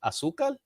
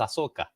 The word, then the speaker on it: Ahsoka: Like Asuka? No, it's Ahsoka.